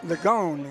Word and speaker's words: Legone: Legone is how you pronounce that. I called him Legion. Coach told me it's Luciano Legone.